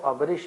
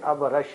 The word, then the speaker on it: ابرش: ابرش اصل جو عربی تلفظ ہے وہ ابرش نہیں بلکہ ابرش ہے.